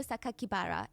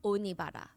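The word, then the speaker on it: 酒鬼薔薇: The press read the kanji, so like the Japanese characters for Saito Sakakibara, and instead of pronouncing the way that he intended, the killer intended, because the kanji could mean other words, they stated to the public that the killer's name was Saito Onibara, which would be a more common surname.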